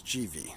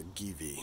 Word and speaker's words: GIVI: protectors um and that's GV I might have pronounced a gii in previous or in my last video but I after a g in Italian turns the G soft like Bono so GV handguards um